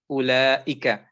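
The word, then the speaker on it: أولئك: And if you see it like this, remember it is ulaika. The wow is there, but you don't mention that wow.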